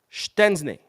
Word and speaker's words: Szczęsny: able to register Wojciech Szczęsny. Yes, that is how you say it correctly.